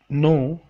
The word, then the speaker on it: know: विकैबुलरी ऑफ द डे, आज का लफ्ज़ नो, जानना।